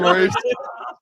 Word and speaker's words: Maurice: Maybe it's Maurice, and I just no way. It's spelled it is, yeah. It's spelled Morice. Yeah, it's definitely Maurice. Maurice. Morris. My bad, Maurice.